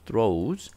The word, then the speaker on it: throes: throws 요거는 이제 발음도 주의하고 주의할 필요가 있는 단어인데 여기서 일단 한번 단어를 한번 보죠.